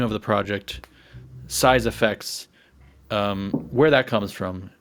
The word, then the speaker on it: CYESS AFXZS: haven't read it it's kind of like if you take a the word size and effects and say them in a